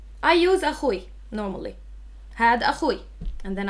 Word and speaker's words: أخوي: If you want to say my brother, also to pronunciation, pick the easiest one. You can either say أخي or أخوي. I use أخوي normally.